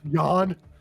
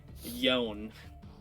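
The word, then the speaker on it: Yänn: Yawn. No, Yawn. it's pronounced Yon.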